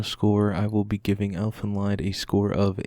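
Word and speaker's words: Elfen Lied: quick after credits scene here I know I might be mispronouncing the title Elfin lined because I've been told before it's actually elf in lead so apologies if I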